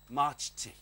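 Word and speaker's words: Majti: It's M-A-J-T-I. Marchi. Marchti. Marchti. That's her name.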